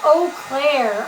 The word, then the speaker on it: Eau Claire: Pronounced Eau Claire.